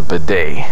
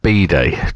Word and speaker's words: bidet: well you know why because you pronounce it wrong if you went into a shop and said oh come sorry could I have a b day it's a b day well you know here